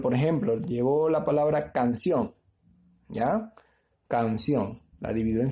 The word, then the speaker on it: canción: Pero, por ejemplo, llevo la palabra canción, ¿ya? Canción. La divido en sílabas. Canción, ¿ya? 2 sílabas. Sencilla. Entonces, canción. Lleva mayor fuerza de voz en la última sílaba. Porque no puede decir canción, ¿ya?